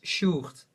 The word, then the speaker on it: Sjoerd: my real name is Sjoerd, but that's like a Dutch name, so it's really difficult if you come outside of Holland.